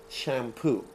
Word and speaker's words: shampoo: We have basically the same word in Farsi, but we pronounce it differently. So I want you to show you the correct English pronunciation. In English, you pronounce this what? Shampoo. Okay? It's ah.